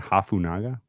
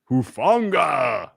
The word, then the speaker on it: Hufanga: When we were talking with Eric and was I saying Hafunaga? I don't know. You were adding multiple syllables. Talanoa. It's not like mine was any better. Talanoa Hufanga. That is a very powerful name. Hufanga. There we go.